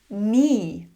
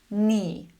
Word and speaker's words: knee: Knee. Knee.